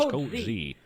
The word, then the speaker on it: Coach Z: My name is Coach Z. Pronounced with an O-Z.